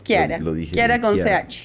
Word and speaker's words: Chiara: Kiara, con ch, pero se pronuncia con K.